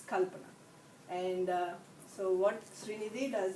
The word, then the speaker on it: Kalpana: I see people saying Kalama, I see people saying Kaplana, I see people saying Kalpana. So the right way is Kalpana. Okay, so the way we stress different syllables is different in each language. So it's Kalpana.